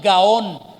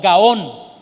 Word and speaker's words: gaón: como soberbia es aquí el término gaón gaon con acento en la o gaón y es una palabra